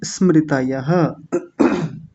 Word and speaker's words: स्मृतयः: प्रमाण विपर्य विकल्प नित्राय निद्रास ऐसा नहीं स तो आधा है निद्रा स्मृतयः बोलिए अक्ष बोलिए निद्रा समृत हां जी स को पूरा मत कीजिएगा आधा रहेगा आपको तो पता है